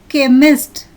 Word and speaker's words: chemist: In the second picture, the syllables CH are pronounced as k, choir.